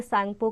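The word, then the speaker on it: Tsangpo: इट is called सैंगपो there, इसको तिब्बत में सैंगपो कहा जाता है। ब्रह्मपुत्र का नाम तिब्बत में सैंगपो है, इसमें टी साइलेंट रहेगा स्पेलिंग में।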